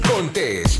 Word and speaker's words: Contés: Y con ustedes, Miguel Contés, con acento en la E.